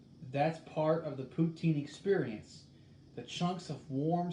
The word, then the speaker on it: poutine: you pronounce it is poo as in p o o and teen t-e-e-n poutine emphasis on the last syllable syllable french canadians might